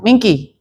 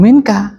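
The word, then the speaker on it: مِنْكَ: Mingki. Ya minka. Kalau mingki artinya beda nanti.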